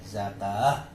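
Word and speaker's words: زكوة: Di sini ada tak marbuto, maka dia dibaca ada haknya zakah. Abi ini kan kaf, ada alifnya. Wawunya enggak dibaca, ini kan ada tak. Jadi gimana? Ya bakanya bacanya zakah.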